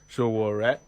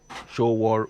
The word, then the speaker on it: Sowore: How do you pronounce Sowore? Sowore. Sowore. What does it mean? Is in Yoruba it will be Sowore, meaning Show turn business into friendship.